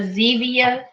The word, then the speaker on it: Zevia: What he was drinking was a Zevia. It rhymes with stevia.